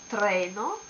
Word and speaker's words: treno: Or like in this word, the accent as before is on this syllable, so treno and not treno. It sounds so French.